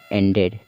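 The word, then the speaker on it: ended: तरह से पढ़े जाएंगे यानी कि यहां पर हम क्या पढ़ रहे हैं डी को हम किससे पढ़ रहे हैं एड एड से पढ़ रहे हैं सभी वर्ड में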